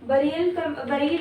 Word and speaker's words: burial: Burial practices, ये क्या है, बरील है ये, इसको इसकी pronunciation बरील होती है।